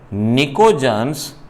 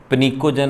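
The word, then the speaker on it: pnictogens: नाम दिया गया है निकोजन्स, इन्हें निकोजन्स कहा गया। PNICOGENS, बोलने में तो पनिकोजन अच्छा लगता है, पनिकोजन, बट पी साइलेंट रहता है, निकोजन।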